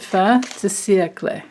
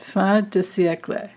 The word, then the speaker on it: fin de siècle: And she says to pronounce it fin de siècle, something like that, fin de siècle.